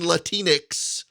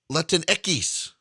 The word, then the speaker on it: Latinx: using Latinx is a violation of the political Hippocratic Oath,